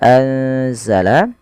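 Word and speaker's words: أنزل: sendiri panjangnya harakat kan pada lafal anzala ada nun sukun ditandai dengan warna Nun yang berwarna hijau dan tidak berharakat ini bertemu dengan huruf salah satu huruf Ikfa yaitu huruf Zai maka cara membacanya yaitu memasukkan nunnya atau menyamarkan nunnya kepada huruf Zai ya anza langsung kepada makhraj daripada huruf z anza anzalallahu anzalah dan kita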